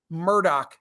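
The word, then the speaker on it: Murdaugh: the courthouse in South Carolina for the elec Murdoch trial that's how Valerie borlein from The Wall Street Journal uh pronounces his name and like she owns this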